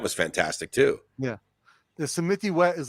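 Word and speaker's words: Samitivej: No, that's not how you pronounce it. You know what I mean? What is it? Samitiwet. Samitiwet. Yeah. Isn't there a J in it? Yeah. Oh, and you pronounce the J as a W?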